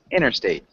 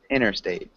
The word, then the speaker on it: interstate: interstate okay so is the t is silent it's almost silent it's interstate interstate you can say interstate 2.